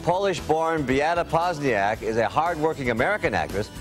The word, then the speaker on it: Poźniak: Well, in Poland we pronounce it Poźniak. In America, it's Beata Poźniak.